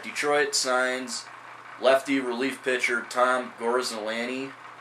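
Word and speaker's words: Tom Gorzelanny: you all right Detroit signs Lefty relief pitcher Tom gorsolani it's how it's pronounced uh to a one-year deal now the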